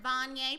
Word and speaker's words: Vanya: I am Vanya, pronounced like Kanye.